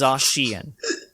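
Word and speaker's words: Zacian: pokemon names so like zashian which i've been pronouncing wrong i've been pronouncing it very slightly this is but isn't it no it's zashian it's like it's not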